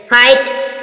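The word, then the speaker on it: fight: जी silent है फट फोट means लड़ा जी साइलेंट फाइट फाइट मीस युद्ध जी साइलेंट हमने देखा जी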